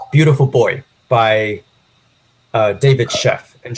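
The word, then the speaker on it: Sheff: Boy by uh David chef and Chef is spelled s h FF um so this one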